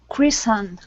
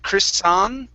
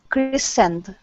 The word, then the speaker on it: christened: so this is christened christened chrissand okay instead of chris song n use an n sound christened christend there you go nice job